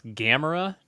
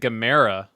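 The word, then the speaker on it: Gamera: doing that I did uh uh it's actually pronounce gamra turns out oh yeah I'm gonna pronounce everything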